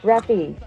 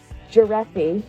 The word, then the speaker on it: Graffy: Pronounced Greffy, not giraffe.